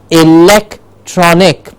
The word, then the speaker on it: electronic: Yes, electronic. So where is the stress? Of course you can see it here, the lek gets the stress. So electronic, electronic, electronic. Yes, the lek goes up, electronic.